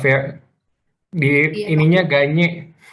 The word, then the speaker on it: Gagne: Ganye, Hah? dibacanya Ganye.